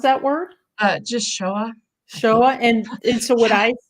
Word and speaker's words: Shoah: pronounce that word? Just Shoah.